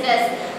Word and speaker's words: does: D O E S, does. Many students may read like do's. Okay, the do's you ninga padikapadathu, you need to pronounce it like does.